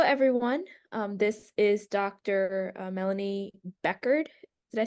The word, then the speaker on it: Bechard: Melanie Bechard. Did I say it right? It's Bechard, but that's a very good guess.